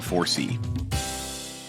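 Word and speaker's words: FORESEE: The name 4C is a bit of a play on words. It's spelled F-O-R-E-S-E-E, but it also stands for the 4 C's of energy efficiency: cost, comfort, convenience, and carbon.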